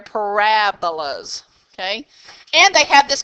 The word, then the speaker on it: parabolas: are called parabolas yeah I know it kind of sounds like parabola z' but you're actually emphasizing that middle syllable they're parabolas okay and they have